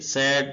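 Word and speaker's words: sue: पढ़ना सक्ड कामयाब होना सु इसको सु पढ़ेंगे एस यू ई मुकदमा केस करना सजेस्ट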